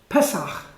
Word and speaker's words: Pesach: Pesach. Pesach. Yeah, with a cha, that kind of sort I of have guttural my throat, yeah. sound that we don't have.